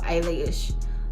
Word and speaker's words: Eilish: I was like, Billie Eilish, like eyelash.